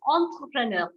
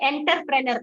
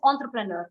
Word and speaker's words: entrepreneur: pronounce the next word we call it as entrepreneur we don't say enterpreneur no we we would have made it into our native language but we call it as entrepreneur why because again a